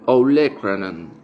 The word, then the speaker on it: olecranon: latín o del griego, que se pronuncia olecranon, olecranon, olecranon, olecranon. Y en español se escribe igual, pero con un acento en la E.